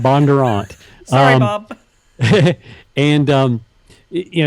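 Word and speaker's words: Bondurant: a teen driving program really how you say it I always thought was Bon Durant no it's Bob Bon Durant sorry Bob and um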